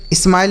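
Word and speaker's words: smile: आगे लिखा है एस एम आई एल ई। तो बच्चों एस से पढ़ेंगे आधा श और एम से पढ़ेंगे म। यहां पर भी आई का उच्चारण आई के रूप में और एल से ल। लास्ट में इ रहता है किसी भी शब्द में तो उसे हम नहीं पढ़ते हैं।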